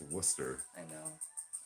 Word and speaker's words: Worcester: That's how it's spelled. No. X. That's all right. You try to say Worcester. Worcester. It's Worcester.